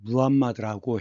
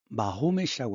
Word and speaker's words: 무함마드: 선지자 무함마드라고 했는데 영어에서는 마호멧이라고 하지만 그쪽 말로 아랍어로는 무함마드이기 때문에 이렇게 쓰는 것이 맞다고 생각합니다.